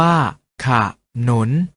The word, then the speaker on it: ขนน: เสียง ว่า ฉาก หลาม ขนน ออก เสียง ว่า ขนน เอา เมล็ด ออก เสียง